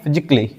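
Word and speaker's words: physically: वाई आए तो वहां पे ए क्या होगा साइलेंट होगा इसको पढ़ेंगे फिजिकली इसी तरह इसको पढ़ेंगे क्रिटिकली क्रिटिकली नहीं क्रिटिकली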